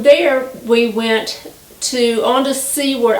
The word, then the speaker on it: Seward: Well, from there we went on to Seward. I think it's pronounced Seward, S-E-W-A-R-D, Alaska, Seward, Alaska.